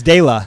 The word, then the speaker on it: Dayla: and I was like oh is that just like it's Dayla is that just Damon but with a no it's not it's Dayla Blackshear Blackshear all right tell